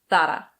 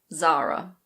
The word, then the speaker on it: Zara: This is a Spanish brand and most Spaniards pronounce it Zara. Zara. But if you say that to a native English speaker, they will not know what you're talking about. In English we say Zara.